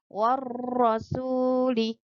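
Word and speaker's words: والرسول: Meskipun ada hurufnya di sini tapi kita tidak membacanya. Warro, jadi langsung ke huruf ro-nya. Warrasuli.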